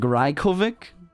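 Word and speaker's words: Rajković: The J is pronounced as a Y, so like right, like what? Like so, like Rajkovic, like that's how you say it.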